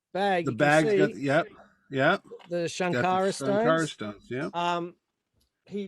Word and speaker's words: Sankara: Shankara stone? Shankara. Yes. But it's not spelled with an H. No, it's not. It's Sankara. Sankara. Okay. I just say Shankara because that's how they say it.